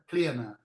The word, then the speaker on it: Clíona: It's Gaelic, so it's clear now. The stress is on the eye.